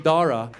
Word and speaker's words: Dara: what to do with the silent H in Dara. And they don't want to mess it up. They don't want to offend us. So we walk in, I see his white teachers, they're sweating bullets. And they start saying his name, hoping that we'll help them out. They're like, you know, your son, but there's no cha. Where'd you see the cha? The H is silent.